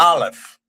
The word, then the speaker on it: Aleph: So today, the Aleph is pretty much a silent letter, and you pronounce the